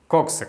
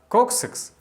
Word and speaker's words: coccyx: Кстати, копчик в английском называется очень странным словом coccyx. Читается как .